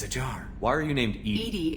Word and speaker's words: EDI: why are you named Edie is the phonetic pronunciation of EDI where are you my